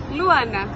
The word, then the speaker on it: Luana: Wait, do I pronounce that right? Luana. Right. It's like moon. Okay, Luana.